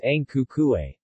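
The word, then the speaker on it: Ang Ku Kueh: Fen Guo, red tortoise cake, Hong Gui Guo pronounced as Ang Ku Kuei.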